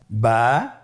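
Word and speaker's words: ب: আমাদের স্ক্রিনে চলে এসেছে, বা, তা, সা। আমাদের স্ক্রিনে চলে এসেছে বা হরফটি কীভাবে উচ্চারণ করবেন? বা হরফে টান হবে, এক আলিফ টান।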